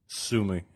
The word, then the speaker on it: Sumy: Sumy.